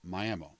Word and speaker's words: Miami: okie speak around here our town's name is pronounced Miami Cassie was beautiful and a very talented actress